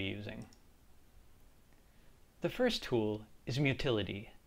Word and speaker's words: Mutillidae: the first tool is mutility which rhymes with utility although you may also hear motila day utility is a deliberately